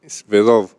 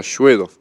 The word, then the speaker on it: Svedov: Svedov, a ver, es solo con S, es Bedov. claro, Svedov. Ujú. Eso es la pronunciación en español, porque después en ruso se pronuncia Shvedov.